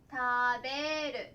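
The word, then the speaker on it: 食べる: 食べる、たと読みます。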